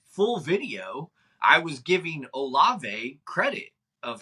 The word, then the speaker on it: Olave: Yeah, so it's Olave, just so everybody knows, not Olave. Yeah, sorry. My bad. Olave, no disrespect. I was actually, if people watched the full video, I was giving Olave credit of how well